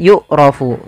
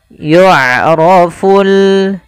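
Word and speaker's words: يُعْرَفُ: Tapi hati-hati jangan dibaca dengan yukrofu. Yukrofu atau yukrofu. Jangan dibanti dengan huruf kaf atau huruf hamzah. Jangan y'raf tapi dia huruf ain. Y'roful.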